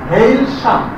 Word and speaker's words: Hailsham: And look at the pronunciation. Hailsham.